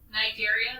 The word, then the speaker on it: Cnidaria: So Cnidaria, that's how we pronounce that.